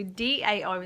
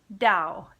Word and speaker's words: Dao: So DAO is the pinyin, but it's the same sound. So it's Dao. Dao, that's how you say it in Chinese.